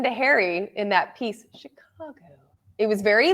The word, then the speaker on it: Chicago: native to this area you say Chicago I do Chicago with that very a a a but if you listen to Harry in that piece Chicago it was very like